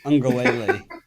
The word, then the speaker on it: Uiagalelei: And if you're going to say it as Ron says it, you got to say it correctly. Uiagalelei. I think you just called him Ugly Lady. You're removing syllables every time you say it.